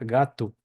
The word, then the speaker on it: gato: o cuando está sola se pronuncia como u sí u Entonces por ejemplo tenemos la palabra gatu gato que se pronuncia gatu sí o la palabra